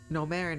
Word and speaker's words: Gnomerin: Gnomerin is silent like Gnome, but represents a far different aspect of the earth.